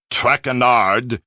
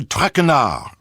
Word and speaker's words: Traquenard: As for my name, not Traquenard. It is Traquenard.